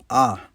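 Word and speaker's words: ʻaʻā: The rough blocky rock you see is called ah. That's a Hawaiian word. It's spelled with two a's and you say both of them. Ah.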